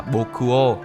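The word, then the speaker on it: 穆王: Từ Mục Vương trong tiếng Nhật được phát âm là “Bokuo” gần tương đồng với “Kokuo” có lẽ nó được sử dụng để gợi nhớ đến từ Vua.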